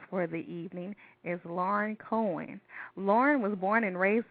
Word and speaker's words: Koenig: Now, did I pronounce your last name correctly? Is it? It's Koenig.